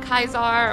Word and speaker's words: Caesar: anybody missed it um I did meet kaisar or Caesar I'm just going to call him Caesar cuz that's what it's spelled like um I also asked